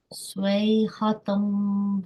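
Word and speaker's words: صيحة: So ha, ain and ha are pronounced from the middle of the throat. So try pronouncing this word again from here to here. Swayhatam wahida.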